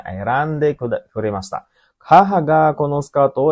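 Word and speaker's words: 選んで: kata erabu, erabimas artinya memilih, memilih ya, jadi bacanya erande kuremashita. Haha ga kono skirto o erande kuremashita.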